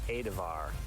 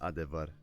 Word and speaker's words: Adevar: I keep reading about this this Adavar. Does anyone know anything about that? No, actually, it's a mystery. I have no idea. How is it pronounced? It is pronounced Adevar. Ah, I thought it was Adavar.